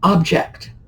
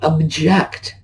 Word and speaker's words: object: noun verb words here object notice the accent is on the first syllable now but if I object to it I switched the accent over to the second syllable okay now remember cement